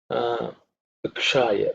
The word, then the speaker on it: Ukshaya: This is Uksha, Ukshaya. Okay, that Sha is cerebral Sha.